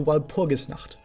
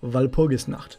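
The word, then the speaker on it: Walpurgisnacht: to go back to while pogus not but this is how you pronounce it valpogus not i'm a german i'm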